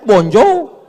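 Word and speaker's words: bonjour: Tulisannya bonur. Bacanya bonjou.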